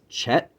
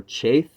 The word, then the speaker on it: Chet: assigned to The Chariot is Chet or chaith or there's a few different pronunciations but or um het is another pronunciation of of this letter and it means the